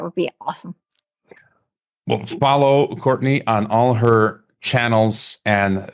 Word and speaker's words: Courtenay: little bit differently it's spelled like courtin it's pronounced Courtney but it's c r t n a y